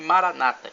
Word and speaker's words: Maranata: irmãos evangélicos ou protestantes dizem Maranata com a tônica na penúltima sílabas católicos Dom Antônio na última sílaba não importa somos todos